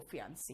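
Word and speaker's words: fiancée: जो है महिला, वो फियांसी है, ठीक है। यहां पे फियांसी और फियांस बोलते हैं, बाकी ई का कहीं भी प्रोनाउंसिएशन नहीं आता, ठीक है।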